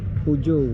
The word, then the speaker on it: Peugeot: ganda ng mga modelo niya no tama baang pronunciation pujo no pujo Yes po testing ka Boss sige